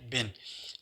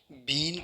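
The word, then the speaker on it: been: वाज़े की थी कि आम तौर पे इसको बीन पढ़ा जाता है, जबकि इसकी करेक्ट प्रोनाउंसिएशन इज़ बिन है, बीन नहीं है।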